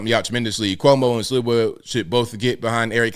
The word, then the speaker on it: Sliwa: Silva. Hold on. Let me look it up. Sliwa. Okay, Sliwa.